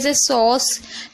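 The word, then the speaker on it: sauce: इसी तरीके से सॉस एस को सा पढ़ें। ए यू को ओ पढ़ें और सी को सा पढ़ें। लास्ट वाले को हम पढ़ते नहीं है। साइलेंट रहता है इसलिए। तो इसे देखिए सोस पढ़ा जा रहा है।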